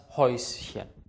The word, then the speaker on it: Häuschen: Und das Häuschen. Das Häuschen ist ein sehr, sehr kleines Haus. Die Häute, die Mäuse, das Häuschen. Ä und U zusammen wird immer Eu ausgesprochen. Ganz wichtig ist das SCH.